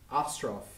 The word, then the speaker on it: Ostroff: So first of all, today is the 22nd of December 2014, and we are with Ostroff. Is that correct? Did I pronounce the last name right? Correct. Ostroff?